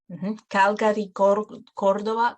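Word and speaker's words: Córdoba: letter following said so if you have consonantes or a on you're going to be pronouncing it like like okay for example calgary cordoba cusco we're going to pronounce it cordoba cuzco gracovia cleveland as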